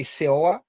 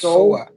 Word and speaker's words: Soa: Soa, oh, by the way, yeah, her name is we all say Seoa, but it's pronounced Soa. Seoul, like Soa. Seoul, Korea, like Seoul, Korea.